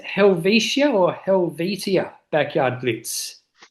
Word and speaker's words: Helvetia: Um, so is it pronounced Helvishia or Helvitia? Backyard Blitz. Helvesia.